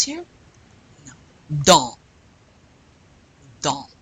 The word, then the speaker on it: dans: Dans. Dans. You don't pronounce the N or the S.